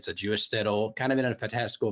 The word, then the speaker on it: shtetl: the story of like a Jewish let's say shtetl I learned how to pronounce it before to make sure I got a right so Jewish shtetl kind of in a fantastical version of 19th